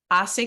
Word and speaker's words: hace: We're going to pronounce it without the H, but we're going to spell it with the H.